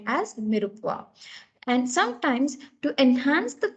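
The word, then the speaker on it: mirepoix: that is called as it is spelled as m-i-r-e-p-o-i-x it's called as mirupwa so mirupwa is nothing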